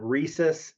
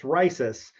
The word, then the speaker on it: Risus: appreciate it it's not risus it's not reesus it's risis and we even put the long eye symbol over the eye but no one pays attention to that so they mess it up a lot but anyway it's risis risis is Latin for